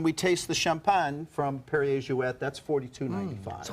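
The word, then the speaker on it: Perrier-Jouët: and as I said, it's Perrier Jouet, because it was Monsieur Perrier and Madame Jouet. She was from Holland, so it's a Dutch name.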